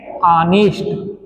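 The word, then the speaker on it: honest: बताइए यह कितने लोग ऑनेस्ट पढ़ते हैं भाई इसका सही उच्चारण है अनिष्ट इसे अनिष्ट कहते हैं अनिष्ट माने होता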